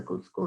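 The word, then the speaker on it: Gudskul: short pronounces is a good school in english it is a public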